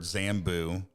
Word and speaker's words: Zambu: I'm like buzz button the Z from Zoom Beto I'll drop the J add the Z literally made my own word zamboo but I'm like five letters two syllables very easy to remember